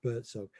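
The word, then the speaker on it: Buurtzorg: It's spelt peculiarly. It's BWRTZORG, Birdsong.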